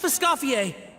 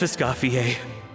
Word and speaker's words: Escoffier: So the characters have a lot of French pronounced names. Like, Escoffier, Neuvillette. Vermont, like how Escoffier pronounced it now. Chef Escoffier, Navia, Traveler, thank you